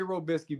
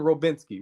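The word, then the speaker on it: Robiskie: he said his name he called him robinsky with an N he said I'm sorry for coach robinsky this is they loaded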